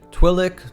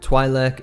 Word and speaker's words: Twi'lek: here about the pronunciation twilik twilek and twilek are all canonically correct ways to pronounce their species and you'll even hear